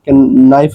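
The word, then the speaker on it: knife: ऐसे नाइफ के बाद में इसमें के साइलेंट होती है। तो इसको हम क्या पढ़ते हैं? नाइफ पढ़ते हैं। नाइफ का मीनिंग क्या होता है? चाकू हो जाता है। नाइफ इसलिए पढ़ते हैं अगर के के बाद में एन आ रहा है तो उसमें के हमेशा साइलेंट रहता है।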